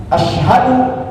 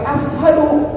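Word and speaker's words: أشهد: Asyhadu jangan pakai ashadu, itu beda arti.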